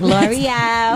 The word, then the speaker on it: Lore'l: You is it L'Oreal? It's like L'Oreal.